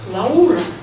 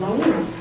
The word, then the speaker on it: Laura: that lady his belot Laura you probably pronounce it in English like Laura but I gu it pronounce it like a and I'm going to show you portrait of laa unfortunately Laura died because